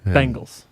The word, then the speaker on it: Bengals: Bengals.